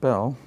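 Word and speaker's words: Beall: a charlatan by reputation bail that's pronounced bail was a gentleman and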